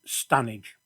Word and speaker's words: Standedge: the western end of stanage tunnel near the village of diggle and yes the locals pronounce it stanage well here i